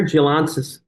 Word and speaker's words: Gialantzis: So think data with Gialantzis. did I say it right? Yeah, you did pretty good. Yeah, but Gialantzis is the technical, Gialantzis, Chief Merchandising, Chief Commercial Officer at Pod Foods.